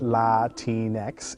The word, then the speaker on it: Latinx: all right let's go latinx pronounced la tinex is a gender-neutral word